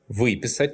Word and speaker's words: выписать: But don't forget that perfective verbs with the prefix вы are stressed on the first syllable in all forms.